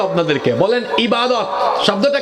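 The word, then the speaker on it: عبادة: বলেন ইবাদত। শব্দটা কি? এটাকে আমরা আরবিতে এভাবে উচ্চারণ করি। ইবাদা।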